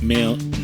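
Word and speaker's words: Milne: Written by aa Mil is how you say his surname.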